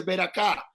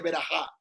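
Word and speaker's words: ברכה: Y cuando busque una palabra, no la va a pronunciar mal, porque por ejemplo la gente dice ver acá y no es ver acá, en hebreo se dice ver ajá.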